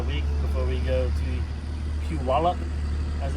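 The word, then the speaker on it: Puyallup: But we're only going to be here about a week before we go to Pew Wallup as it's pronounced.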